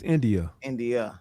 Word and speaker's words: India: I said India, right? Or is it Indy? It's India. India.